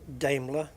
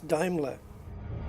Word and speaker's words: Daimler: it's actually diimler cuz that's how the Germans pronounce it and it's a German company and blah blah blah and it's Daimler so now I'm saying